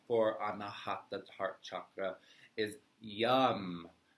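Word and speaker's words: Yam: And the seed syllable mantra for Anahata heart chakra is YUM. Y-A-M. Yum. Like yummy.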